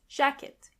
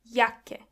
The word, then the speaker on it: Jacke: And this is where you can see that the letter J is pronounced as Y. Jacke. When you see a C and K together, they are pronounced as K. Jacke.